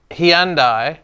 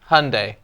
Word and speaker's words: Hyundai: depends that's not going to stick well uh heandi here Hyundai yeah crazy right Hyundai and I think Hyundai is Right Hyundai I